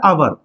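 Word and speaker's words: hour: आवर, ये H silent रहता है, आपको गलती नहीं करना। आवर मतलब घंटा होता है, तो एच क्या है? साइलेंट।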